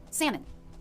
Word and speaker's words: salmon: Salmon. Lox. Where, can you Google where the word salmon is from? Like, what's the origin? Latin. The L in salmon was never pronounced in English, and its presence in the spelling is a I result.